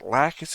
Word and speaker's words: Lacus: then Here Comes lacus lacus is how you say it right uh La yeah I've been going lacis I haven't heard her name enough to have it already pre-prepped and then when I read it it's we're going